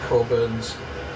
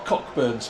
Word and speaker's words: Cockburn's: So that tells me next time not to use the Coburn's port bottle, or Cockburn's port if you want to say it like it's spelt.